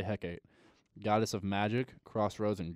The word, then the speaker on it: Hecate: yet I guess Hecate I think it's not Hecate this has two pronunciations okay we'll say Hecate goddess of magic crossroads